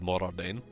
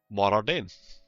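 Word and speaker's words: Mor Ardain: Morardain. I think they try to pronounce it more, as in M-O-R-E, and then Ardain.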